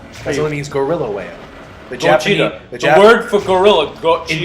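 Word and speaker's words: ゴジラ: You know, Godzilla was actually an English pronunciation of the Japanese word. Yeah, right? it's cool. Yeah. It's supposed to be like one of those. Isn't it Godzilla? No, it's Gojira.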